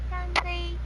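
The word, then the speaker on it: 干杯: I think it's pronounced Ganbei. Ganbei. Ganbei. Yep, Ganbei. Ganbei. That's cheers, apparently in Chinese.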